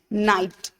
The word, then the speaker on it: night: Night. So in night, we can hear the sound of night, N-I-T, right? We are not speaking out GH sound. So GH is silent there.